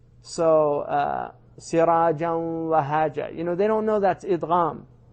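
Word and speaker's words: سراجا وهاجا: So, sirajan wahaja. They don't know that's idgham. But they don't say sirajan wahaja. They don't pronounce that noon.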